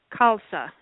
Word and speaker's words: Khalsa: this isara and your last name is pronounced how kalsa KSA okay I didn't get the first